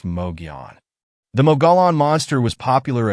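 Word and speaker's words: Mogollon: The Mogalon monster, pronounced Moion.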